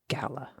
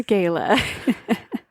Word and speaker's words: gala: a chamber of commerce gala gala say Gala or Gayla I always say Gala Gayla just sounds so put on put on gala gala it's Gala we're going to go with Gala okay also in April